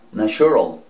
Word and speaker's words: natural: Esta otra, natural, natural, natural, esa T quedó como si fuera una Ch, ¿cierto? Vamos a borrar la U, y entonces, ¿cómo quedó? Natural, natural.